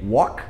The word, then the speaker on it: walk: Mesma coisa para andar e conversar, que é walk e talk. Não é o... A gente, em português, a gente tenta falar walk e talk por causa desse som de U, por causa do L.